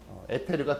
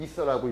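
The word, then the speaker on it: ether: 에테르가 두 개 나오고, 에테르. 원래는 이서라고 읽어야지.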